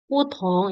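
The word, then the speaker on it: 普通: Jadi putong ini T, jadi pelafalan Mandarin itu kalau ada T itu harus ada anginnya.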